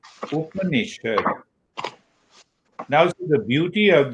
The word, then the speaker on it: Upanishad: You see that you hear the name, you hear the word Up, first syllable, Ni, second syllable, Shad, third syllable. Huh? Upanishad. Upanishad.